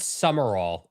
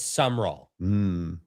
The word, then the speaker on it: Summerall: That should be 3 syllables, but it's just 2. Yeah, it's not Summerall, it's Summerall.